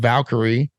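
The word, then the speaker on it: Valkere: uh from levaric and and came up with Valkyrie which I love uh and Valkyrie is spelled v-a-l-k-e-r-e for those of you looking uh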